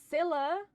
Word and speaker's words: Scylla: Yes, Scylla! That's how I've been pronouncing it the whole time.